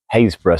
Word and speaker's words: Happisburgh: And it's not even one of these odd Norfolk places like Haysborough spelt Happisburgh or Windham spelt Wybondham.